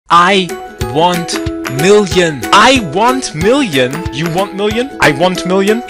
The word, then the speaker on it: Iwontmillion: Iwontmillion. It is Iwontmillion with an O. Pronounce it in a European style.